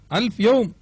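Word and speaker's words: الفيوم: யூசுபின் நதி என்று பெயர் ஆயிரம் நாட்கள் என்று பொருள்படும் அல்பியோம் என்ற அரபுச் சொல் பேச்சு வழக்கில் உச்சரிக்கப்பட்டு அல்பயூம் என்று ஆகிவிட்டது இப்பொழுது நகர யூசுப் நதி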